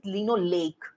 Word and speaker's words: linoleic: Can you please pronounce? Linolenic. In omega-6, it's linoleic.